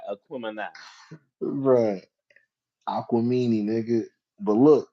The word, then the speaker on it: Aquemini: I also think that the Outkast album, Aquamini, Aquemini. Aquemini, is that how you pronounce it?